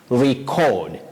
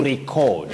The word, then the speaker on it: record: so in this case as a verb you say record to record something okay to record record but as a noun you say record record just like Rebel the